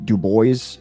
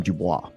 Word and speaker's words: Du Bois: Du Bois did not pronounce his name Dubois.